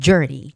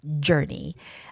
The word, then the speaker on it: journey: And the two last words are artistic, I has the stress, the first I, and journey, journey. You have to be careful when you're making that J, journey sound, because I think both